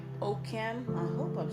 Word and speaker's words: Ockham: It's pronounced Occam. It Ockham. rhymes with Oh, awesome. awesome.